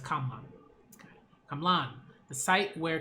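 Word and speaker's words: Camlann: Kalman. Or, Kamlan, sorry. Okay, Kamlan, sorry. I've been saying it wrong, I believe. I've been saying, Kalman, but it's Kamlan.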